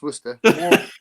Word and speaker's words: Worcester: And so wor sauce you might get you might get do you get wor sauce because that's that's spelled Worcester but it's worester war sister.